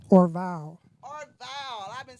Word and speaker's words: Orvalle: You say Orvalle, like Yeah, on my Instagram bio, I have it in the bio how to pronounce it. OR-VOW.